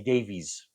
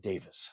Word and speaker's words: Davies: and Dave and say Davies but from what I understand they pronounce it Davis so that's what we're gonna say anyway Ray Davis one of the great